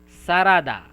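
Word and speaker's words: サラダ: Sarada. Sarada means salad. Salad. Sarada. Yeah. They don't have the letter L. So instead of L, they use ra.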